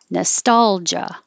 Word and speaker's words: nostalgia: g but you yeah you can say it ja but when you get jo a little lazy it can sound like ja so nostalgia nostalgia when you have